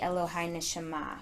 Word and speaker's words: Elohai Neshamah: And so when you say the prayer, you're supposed to actually kind of pronounce that last AH sound. So it's a really interesting little something to ponder as you're praying the Elohai Neshama prayer.